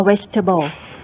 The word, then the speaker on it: vegetable: interesting นะคะก็อย่างที่อาจารย์บอกไม่ใช่ interesting นะคะ interesting หรือว่า chocolate หรือว่า vegetable นะคะสระกลางนี่จะไม่ออกเสียงนะคะค่ะแล้วก็ในประการที่สามนะคะก็พวก word stress นะคะอันนี้ก็ในคำโดยเฉพาะในคำที่มีหลายๆพยางค์เนี่ยก็จะมีทั้งที่เราเรียนแล้วนะคะที่เป็น primary stress นะคะที่เน้นเด่นเลยนะคะที่เป็นจุดเด่นของคำนั้นนะคะแล้วก็จะมี secondary stress